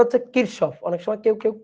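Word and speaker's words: Kirchhoff: ল কারসফ কারশ current law current law এর উচ্চারণটা হচ্ছে কিরশফ অনেক সময় কেউ কেউ কিশপ বলে কথা একই ঠিক আছে কারফ কিশব একই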